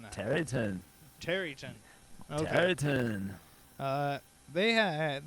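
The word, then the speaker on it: Tareyton: Terry Tone? Is that how you would pronounce that? Tarayton? Yeah. How are you pronouncing that? Terryton.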